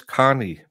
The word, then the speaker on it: Kearney: I know his name is Carney, but it's spelled Kearney.